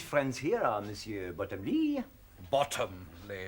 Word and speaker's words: Bottomley: Bottomley, if you don't mind. Oh, pardon, Monsieur. Accent on the bottom.